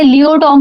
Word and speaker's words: pleiotropy: आता है लिट्रो लियो जो टर्म होता है लियो टोम का पी जो है इसमें साइलेंट है लियो टोम का मतलब क्या होता